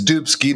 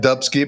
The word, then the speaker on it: Dubsky: Yeah, except it's Dubsky, not Dubsky, but that's all right.